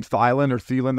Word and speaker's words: Thielen: Thielen.